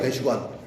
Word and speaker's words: 대사관: 그러니까 대사관이라고 하면 틀리는 거예요. 대시관이야, 대시관.